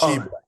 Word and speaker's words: Tshiebwe: There's no T. Just Tshiebwe. Tshiebwe.